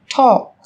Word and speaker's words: talk: yellow, Một số từ sau đây sẽ có chữ cái L trong cách viết nhưng chúng ta không cần phát âm. Talk, talk, talk.